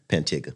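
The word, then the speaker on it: Pantego: North Carolina B yeah pantigo specifically I'm right outside of Lil Washington how do you say it for real pantiga I've never what we say that's what we say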